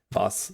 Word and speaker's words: was: I do know that the W makes a V sound, so it's like wir, vi, was, not like we're like what was it?